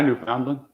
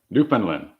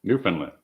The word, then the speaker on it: Newfoundland: channel to be about I knew Foundland Newfoundland I caught myself I know that's I said it wrong the first time Newfoundland thank you keep up